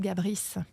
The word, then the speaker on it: Gabris: Moi, je préfère le tennis de table, Charlotte Oui, c'est bien le Gabri. tennis de table. Alors, C'est je vais te trop dire bien. quelque chose. C'est vraiment... Allez. On dit Charlotte Gabris.